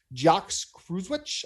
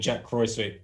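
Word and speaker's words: Jacques Kruyswijk: um you're going to jacques cruzwich i believe is how you pronounce it was that okay i mean i'm going to hash it up anyway i always call him jack croy sweet but uh as we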